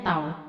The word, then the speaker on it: tau: momen gaya itu disimbolkan dengan tahu ini nama bacanya tol momen gaya membacanya talk kemudian = F *